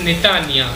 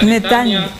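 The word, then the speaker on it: Netanya: ciudad donde viven nosotros bueno la ciudad es netania así se pronuncia netania estamos 30 km al norte de tel avid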